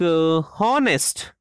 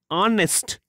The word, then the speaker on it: honest: Similarly, it is not like honest. This is wrong. Actual pronunciation of this word is honest. H is mute.